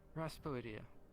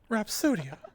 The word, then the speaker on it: Rhapsodia: I believe I heard Raspodia. No, I did not put the S before the P. Put the P before the S. Rhapsodia. Raspodia would sound silly.